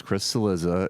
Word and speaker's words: Cillizza: Yes, Chris Cillizza is the worst, and that is how you pronounce his name.